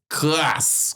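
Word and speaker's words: kras: And Creole is spelled K-R-A-S. Crass.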